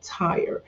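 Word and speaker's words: Tyre: he talked extensively about a city called Ti and you may see it in the Bible as t y r e it's pronounced Tire just like a tire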